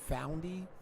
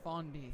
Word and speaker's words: Fondy: Is it Foundy? Fondy. Fondy. Like a baby deer.